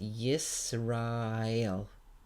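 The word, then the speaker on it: ישראל: So this is pronounced Yisrael, Yisrael, Yisrael.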